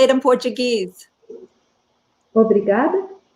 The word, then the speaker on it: Obrigado: Obrigada. Obrigado.